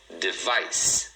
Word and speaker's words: device: Então, duas sílabas também, ó. Device. E a segunda é a mais forte.